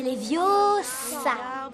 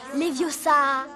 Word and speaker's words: Leviosa: Et puis d'ailleurs, tu ne sais même pas le prononcer. C'est Leviosa. Et pas Leviosa.